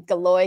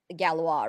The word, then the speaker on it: Galois: appreciate that etymology of Galore and I think you pronounce it as galawa right which is yeah which is the French French pronunciation I'm just being an